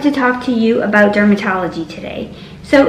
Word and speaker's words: DRMTLGY: talk to you about dermatology today so it's d-r-m-t-l-g-y without the vowels but it's pronounced dermatology and i've been on